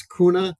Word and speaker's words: Kuehne: so like I said you know it's it's kuna and Nago Two Gentlemen that founded the company originally yes all right I've I've been missed my apologies to Mr kuna and Mr noggle because I've been mispronouncing it